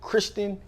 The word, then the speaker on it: Kirsten: Kirsten, okay? I've always wondered, am I saying it wrong, but it's K-I-R, and it's not K-R-I. So Kirsten. All right, so let's see.